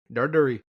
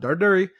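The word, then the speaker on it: Darderi: Darduri. Darduri. He's Italian. That's how you pronounce it. He's not Punjab. Darduri.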